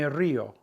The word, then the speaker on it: río: If you want to say I laugh, me río. There's an accent on that I, just like the word river, to break up the diphthong. So we have two sounds.